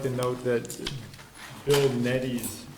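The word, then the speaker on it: Nedde: Also, I would also like to note that Bill Neddy's name is spelled N-E-D-D-E, not N-E-E-V-E.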